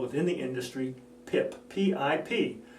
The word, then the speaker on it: PIP: PIP rhymes with SIP, rhymes with tip.